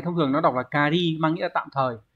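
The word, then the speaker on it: 仮: chữ giả chữ giả này thông thường nó đọc là cari mang nghĩa là tạm thời ví dụ Chúng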